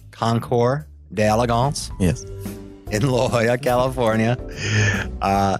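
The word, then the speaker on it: Concours d'Elegance: excellent yeah that is that again the correct pronunciation concore d'Elegance if in La Jolla California and mr.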